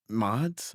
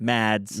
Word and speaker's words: Mads: Well, Mods? Mads. I said it wrong.